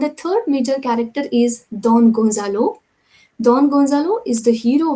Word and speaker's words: Don Gonzalo: Pronunciation should be Don Gonzalo, and this lady, she is Donna Laura. Don Gonzalo and Donna Laura.